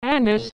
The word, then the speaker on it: Agnes: than 400 years one its medieval pronunciation was anus and its usage and